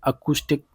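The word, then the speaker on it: acoustic: बताइए, ये अकूस्टिक pronunciation करते हैं इसे, ठीक है, इसकी प्रोनाउंसिएशन अकूस्टिक होती है।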